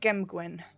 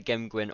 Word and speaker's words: gem gwen: pronunciation of the name i would say gem gwen gem gwen i thought so it was either gem gwin or gem gwin and